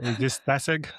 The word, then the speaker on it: Statsig: 对啊，Meta 的人不会发音错的，Statistic。